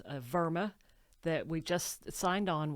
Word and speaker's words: WERMA: Now, Verma is a European German company and um in Germany W is pronounced like we in the United States pronounce it with a V sound. Yes. And it is it is Verma. Verma.